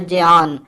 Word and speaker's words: ज्ञान: मित्रों, यहाँ भाषा के बारे में ज्ञान का शुद्ध उच्चारण होता है ज्ञान, पर हम व्यवहारिक सरल शब्दों का ही प्रयोग करेंगे।